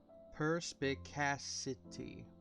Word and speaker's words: perspicacity: How is this pronounced? Perspicacity.